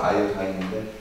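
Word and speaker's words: iodine: 원래는 정확히 말하면 아이오딘이 아니라 사실 발음을 제대로 한 아이오다인인데 아무튼 자 아이오딘이 들어있는 비커 위에 얼음이 들어있는 시계를 올려놓고 가열하였다.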